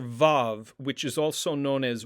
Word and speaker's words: vav: we have the letter vav which is also known as wow vav or wow now originally this letter had a w sound hence the name wow but in modern pronunciation